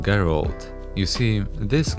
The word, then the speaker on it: Geralt: Gerald, right? Well, as you probably know by now, because lately this franchise has been all over the media, yeah, it's pronounced Geralt.